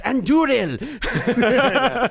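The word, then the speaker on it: Andúril: It's Anduril. Roll your R's. Jordan, what do you have as your second nomination?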